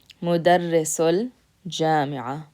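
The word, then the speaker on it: مدرس الجامعة: So you'll hear this sul in between. Mudarrisul jami'a. So what that does is it allows you to connect those two words together when you pronounce them.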